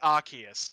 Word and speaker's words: Arceus: arceus though is like technically yes you could pronounce it arceus but every piece of media in anime has called it arceus so i'm gonna go with the official material yeah so pretty much